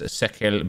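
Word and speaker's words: Cercle: We've got Chelsea versus West Ham and Club Brugge versus Sekel Brugge. I now know, thanks to Yaya Toure, that's how to say their name.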